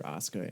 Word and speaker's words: Asuka: It's pronounced Asuka.